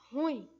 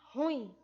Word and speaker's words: ruim: O correto da pronúncia dela é ruim, tá? Então a sílaba tônica dela está no in, tá? Ruim, ruim e não ruim, ok?